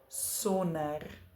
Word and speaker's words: sonder: In words where there is a D that follows an N, we usually drop the D in our pronunciation. For instance, donderdag, sonder, ander.